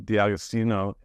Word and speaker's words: D'Agostino: my great pleasure to be talking to di austino did I pronounce that right yeah that's right perfect um